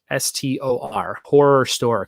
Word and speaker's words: Horrorstor: It's called Horror Store. It is spelled Horrorstor. Horror Store, kind of like if it was a Swedish title.